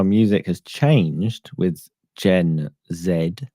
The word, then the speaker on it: Gen Z: music has changed with Gen Zed, as I insist on uh pronouncing them for Commander McMillan and anybody else who lives in U Trump land. That was a Z. Z is is the way you pronounce it if you're having a heart attack and you just can't get to the end of the letter.